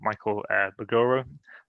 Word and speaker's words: Mbogoro: And I'm here today with my colleague Michael Mbogoro. I think the M is silent. I think it is, yeah. It is.